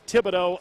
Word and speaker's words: Thibodeaux: will side front court darren thibodeau just like thibodeaux louisiana home of southeastern louisiana the way you pronounce his last name t-h-i-b-o-d-e-a-u-x that very cajun name 20 to 15.